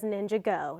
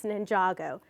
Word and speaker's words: Ninjago: It's spelled like Ninjago Go, but don't be the person that says Ninjago Go. It's Ninjago.